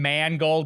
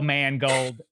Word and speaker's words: Mangold: By the way, I said your name Mangold on purpose.